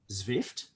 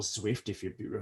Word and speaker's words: Zwift: Another great example is a cycling app, which is called Zwift, or Zwift, however you.